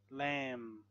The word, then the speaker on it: lamb: logically so a silent silent B when there is M before the B so we don't say p climb crumb lamb thumb Dum Plum Plum